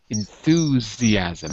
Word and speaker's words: enthusiasm: s i am sm but it's pronounced like a z enthuse like zebra enthusiasm